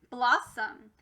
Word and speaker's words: blossom: follows our normal rule first syllable bloss second syllable song try for the real word blossom my friends you'll notice that this changed from ah to uh we call that a schwa remember a schwa happens when it doesn't sound